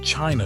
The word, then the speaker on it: Qin: The idea that China should be one thing, one unified state, is his idea. Even the name survived. Qin, pronounced Chin, is widely believed to